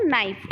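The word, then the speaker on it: knife: हो क्या बोलते हो नाइफ और स्पेलिंग क्या होती नाइफ तो इसमें के शब्द जो होता है साइलेंट होता है नाइट में के शब्द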